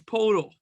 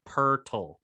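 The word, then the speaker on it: Poeltl: how you get purdle at a portal it's portal no it's pronounced purtl how do you get that out of that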